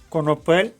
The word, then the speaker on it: конопель: як флип з конопель конопель наголос на останньому складі і означають ці фразеологізми